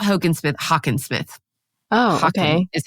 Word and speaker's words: Hockensmith: Not Hockensmith, Hockensmith. Oh, okay. Is how you pronounce it.